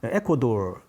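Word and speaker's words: Ecuador: 여러 나라가 있긴 하지만 에콰도르라고 했죠 에콰도르 에코돌 발음은 에코돌이라고 하는데 에콰도르가 바로 적도의 면에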